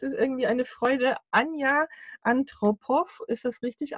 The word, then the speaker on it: Antropov: Anja Antropow, ist das richtig ausgesprochen? Antropow.